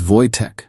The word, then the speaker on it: Wojtek: It's Wojtek, but Americans hear it wrong.